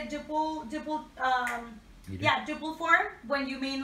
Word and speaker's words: duple: for his duple, that's how you say it, duple form, when you mean like 4-4, 4-8, yeah, so tango is, it's very common that it has like these meters.